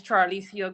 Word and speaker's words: Charissia: Give me the correct pronunciation of your first name, ma'am. My name is Charissia.